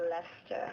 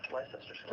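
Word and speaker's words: Leicester: translate uh English English cities like gler or leester lerer is is the classic one my favorite Square Lester life Square it's amazing wow also rep Islington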